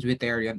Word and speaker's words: zwitterion: Okay, so that's the their difference when it comes to amphoteric and Zwitterion or Zwitter ion, depending on what depending on how you would want to pronounce it.